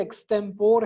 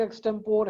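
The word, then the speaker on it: extempore: और एक चीज होती है जिसको अंग्रेजी में लिखते एक्सटेम्पोर हैं, पढ़ते भी कुछ लोग एक्सटेम्पोर हैं, लेकिन मैं जो प्रॉपर उसका प्रोनाउंसिएशन है एक्सटेम्परे, ठीक है।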